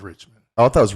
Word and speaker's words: Richmond: that's just going viral you've been saying it wrong the whole time tell me how to say it rich man rich man north of Richmond Oh I thought it